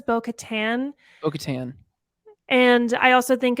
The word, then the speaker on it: Bo-Katan: out like that yeah I always say bocaton too but she says Bo Katan okatan and I also